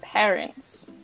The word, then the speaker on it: parents: The correct pronunciation is parents.